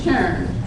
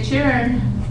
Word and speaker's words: churn: You still made it your own language by saying churn instead of children. To say churn, that's pretty good. But one of the things you were also doing is putting stress on that single syllable because that is a